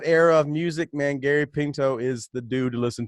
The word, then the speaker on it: Pinto: Pinto, yeah. Pinto, like the beans, or the right? car.